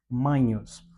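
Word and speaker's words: magnus: E na pronúncia eclesiástica nós dizemos ma, como se nós tivéssemos um nh em vez do gno, tá? Mhos.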